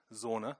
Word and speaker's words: Zoona: idea of sauna now zona is a it's if you want to say it correctly I suppose think of sauna lucky in a hot sauna sauna there we go because we're entrepreneurship is